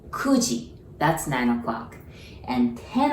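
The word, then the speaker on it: 九時: q or ku right when it comes to time we don't use q we use ku so kuji that's nine o'clock and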